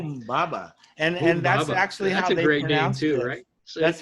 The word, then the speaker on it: Humbaba: Humbaba. And that's Humbaba. actually That's how a they great name pronounced too, it.